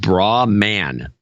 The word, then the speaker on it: Brahman: 1187 starting with wendy brahman which is pronounced spelled bra man she said a note